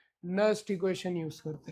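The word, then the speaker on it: Nernst: नस्ट equation है। नर्नेस्ट equation मत बोलना। ठीक है? क्योंकि स्पेलिंग में हां नस्ट इक्वेशन बोलते हैं।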